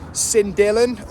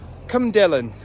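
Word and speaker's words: Cynddylan: last 12 months, including Cyndylan, or as I found, you have to excuse my pronunciations, as it is pronounced in Welsh, Cymdylan.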